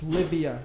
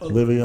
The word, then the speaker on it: Livia: It's Livia, not Olivia?